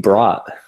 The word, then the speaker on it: Brodt: It's actually Brodt. Brodt. That's what I thought. Okay. Yeah. Okay. It's a weird one. Yeah, just because the D kind of throws you off.